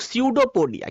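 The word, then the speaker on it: pseudopodia: तो हाथ निकालने का जो हाथ निकालता है, इस स्ट्रक्चर को बोलते हैं हम लोग स्यूडोपोडिया। क्या बोलते हैं, स्यूडोपोडिया। पी होता है साइलेंट, तो स्यूडोपोडिया, ऐसा जो स्ट्रक्चर है इसको बोलते हैं स्यूडोपोडिया।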